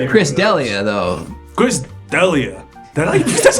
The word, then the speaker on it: D'Elia: Chris D'Elia. That's how you pronounce Yeah, it?